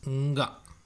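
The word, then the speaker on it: ಙ: Okay, the root consonant is pronounced as nga. Nga. Okay, nga. So it may sound funny, but that is how it is pronounced.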